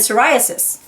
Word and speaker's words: psoriasis: Yeah, the P is not sounded, it's silent. And the silent P on Ptolemy, and psychic, and pterodactyl again. And psoriasis.